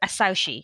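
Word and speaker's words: Asauchi: early in the series, and that's the word asaushi. I think I'm pronouncing that right.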